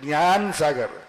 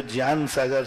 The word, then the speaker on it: ज्ञान सागर: जी से शुरू करते जी और जे में अंतर है ना जी से गा और जे से जा तो दोनों उच्चारण मिलते हैं लेकिन वस्तुतः ज्ञान सागर ही पढ़ना चाहिए नहीं तो जन सागर से अर्थ गलत हो स और महाराज तीसरी